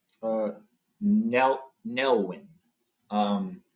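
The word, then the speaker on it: Nelwyn: they're called uh NE nelwin um nelwin is how you pronounce them again I'm sorry I'm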